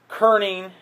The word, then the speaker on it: kerning: Now the other term you want to use is one we call kerning and leading. And kerning is spelled Kerning. Kern, like a kernel of corn, Kern, but without the EL.